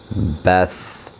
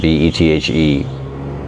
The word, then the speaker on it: Bethe: Another intriguing notion comes from John von Neumann, a mathematician and scientist described by Nobel laureate Hans Bethe, I guess is how you pronounce it, B-E-T-H-E, Bethe, I guess is how you pronounce it, as perhaps, quote, the smartest man who ever lived.